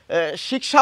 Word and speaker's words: শিক্ষা: এখন তাহলে আমরা কি শিক্ষা বলবো একদম না আমাদের বাংলায় এই শব্দটির উচ্চারণ হচ্ছে শিক্ষা রক্ষা শিক্ষক মাঝে বা শেষে থাকলে ক খ আসবে প্রথমে থাকলে খ আসবে এখানে একটি গুরুত্বপূর্ণ কথা